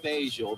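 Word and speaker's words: Fageol: It's a 1947 Fagioli. or something. It's spelled F-A-G-E-O-L. That's the name of the bus. Actually, it's pronounced Fagial, but I just thought I'd throw that in.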